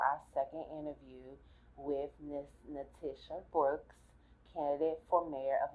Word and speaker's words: NaTisha: your name thank you Leticia not Natisha not Natasha not Latasha Natisha so take it up